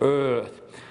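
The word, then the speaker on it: Eaarth: You have to kind of channel your inner Schwarzenegger to pronounce it correctly, sort of Earth.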